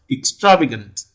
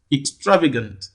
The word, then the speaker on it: extravagant: and three so the the primary stress falls on the third syllable here so that you pronounce the word as extravagant extravagant so clearly option b